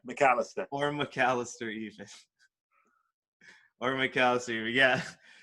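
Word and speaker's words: Macalester: as well as at, how do you pronounce it, Malacaster Or McAllister even, yeah, McAllister.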